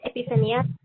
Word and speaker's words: Epifania: Epifania, I'm not sure how to pronounce it, but I think it's Epifania. Sí, hi, it's Epifania.